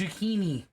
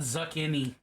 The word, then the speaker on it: zucchini: and opinions and ideals it's zucchini it's not zakin Zaki people say zini I hate that I